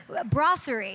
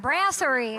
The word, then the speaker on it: Brasserie: guys go check out I said it wrong I'm such a braserie not BR Brasserie I'm an idiot Brasserie not